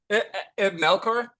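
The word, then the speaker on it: Melchior: by, and I'm going to ask you to pronounce the name. Sure. Melkor is how I say it.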